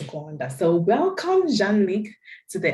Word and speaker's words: Rwanda: I mean, some people might want to say Rwanda, but the real pronunciation is Gwanda.